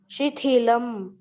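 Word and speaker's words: शिथिलम्: Shithilam, Once again, Shithilam, very good. Tha is a Mahaprana, and hence I asked you to repeat. So Shithilam, that is the right pronunciation.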